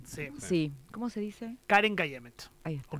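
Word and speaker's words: Keren Kayemet: Karen Kayemet.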